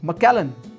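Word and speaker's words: Macallan: तीसरा है मकलन।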